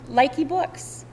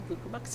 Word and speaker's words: Luca Books: this morning, and this is from Likey Books. Luca Books, yes. Luca Books? Yep. All right. I did not pronounce that right.